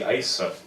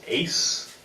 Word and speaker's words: Aise: my name is Ashley eisah but it's perfectly understandable for one person to forget how to pronounce another person's name you know I've heard my name being pronounced ace I see Asia Isis and she said yeah